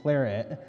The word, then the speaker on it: Claret: It's not the French pronouncing Claret. My guess is that the British had a hard time selling Bordeaux blend, and so they just renamed it Claret to appeal to an English consumer.